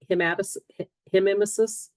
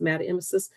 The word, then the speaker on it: hematemesis: If you see H-E-M-E put in front of that, hematemesis, hematoemesis, I think it's pronounced hematoemesis, that's blood in the vomit.